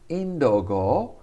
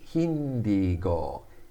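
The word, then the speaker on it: ヒンディー語: deutsche but we don't say indo-go we say hindigo hindigo hindi for the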